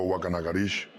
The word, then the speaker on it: Guacanagarix: Wacanagarix, pronunciado Wakanagarish, de acuerdo con la ortografía de la época, fue el que recibió